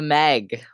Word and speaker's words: MEG: or factions so um stuff like the meg because i refuse to pronounce it m-e-g um i think most people refuse to pronounce it that way um uh trying to